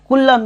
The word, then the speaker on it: Coulomb: इसका स्पेलिंग थोड़ा ध्यान रखना, COULOMB। ठीक है, कूलम है इसका एसआई यूनिट।